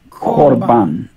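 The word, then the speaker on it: קָרְבָּן: of a closed syllable we say o instead of ah so it's core bond together all core Bond Corban beautiful and the meaning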